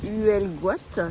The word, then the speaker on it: Huelgoat: Oui, on est non loin de Huelgoat, c'est comme ça qu'il faut le prononcer.